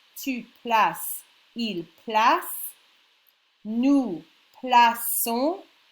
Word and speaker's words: plaçons: Je place, tu places, il place, nous plaçons. If you didn't have the CD, it would be nous plaquons.